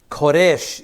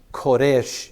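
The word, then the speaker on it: כורש: to Cyrus his anointed koresh is the Hebrew pronunciation of the word Cyrus koresh is this king's name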